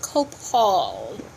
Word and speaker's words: copal: it smells so good some copal is pronounced coke called and you can see